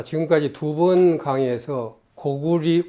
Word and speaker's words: 고구려: 자 지금까지 두번 강의에서 고구리 고구려 는 고구리 로 읽어야 된다 고려는 고리로 읽어야 된다 하는